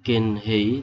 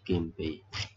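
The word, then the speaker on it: 源平: Jadi Genhei, tapi karena tidak enak diucapkan Genhei menjadi Genpei.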